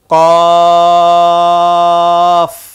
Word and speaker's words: ق: বলার পর সবাই বলুন কফ কফ কফ কফ কফ। কফ আবার বলুন, কফ আরেকবার। কফ। এই হরফটি উচ্চারণ হয় জিহ্বার গোড়া তার বরাবর উপরের তালুর সাথে লাগিয়ে এই হরফটি উচ্চারণ করতে হয়।